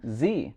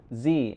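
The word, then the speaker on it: Zhi: And we had our son, Z.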